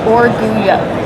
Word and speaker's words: Orgullo: So, the pronunciation is Oruo. Oruyo. Yes. All right. I think I got So, double L makes that Y sound.